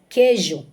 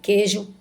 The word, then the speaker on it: queijo: aqui embaixo queijo guerra Você tá vendo que o queijo é q u e o guerra que Geo é quando a gente diz que Ju Guerra Não tem nenhuma pronúncia da letra U portanto essas palavras aqui